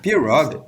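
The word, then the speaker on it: pirogue: Maybe a little bit off from my French pronunciation for pure. Pureogue.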